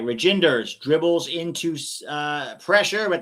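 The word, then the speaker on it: Reijnders: on aggregate Pete reinders the EIG is pronounced as the Y in by so it is reinders thank you reinders so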